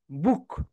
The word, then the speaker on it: book: ওকে, সবাই এখানে বলো বি, ও, বলো বি, বি একটা করে ক্লাব দাও, বলো বি, বি, ও, বলো ও, ও, খেই, খেই, বুক, বুক।